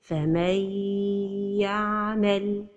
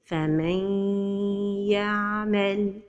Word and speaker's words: فَمَن يَعْمَلْ: So the right pronunciation is فَمَن يَعْمَلْ. Another example with noon saakinah. وَمَن يَقْنُتْ. The mistake is to pronounce the idgham without ghunna. وَمَن يَقْنُتْ. And the idgham is with ghunna.